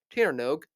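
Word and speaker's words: Tír na nÓg: are the main attractions of the brand new Tanog themed area at Emerald Park. Themed to the ancient Irish legend of the Land of Eternal Youth. Tanog, yes, that is how you pronounce that.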